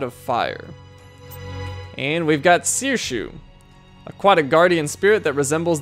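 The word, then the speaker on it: Saoirse: Her name is pronounced Sirshu and means freedom in Gaelic.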